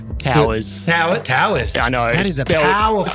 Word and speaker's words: Touyz: know a powerful SP it is spelled tues and I'm almost convinced it is tues but my granddad said it was towers and we just sort of stuck with it but I'm not convinced